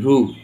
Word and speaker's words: rue: ইউ এর উচ্চারণ হলো। তারপর আর একটু দেখো, এই যদি আমরা বলি RUE, রু, RUE, রু, তাহলে ইউ প্লাস ই আছে, দেখো এখানে এই যে ইউ এর পরে কি আছে?